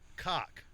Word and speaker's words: Koch: Oh, so cock. Well, they will actually pay you to pronounce it Coke.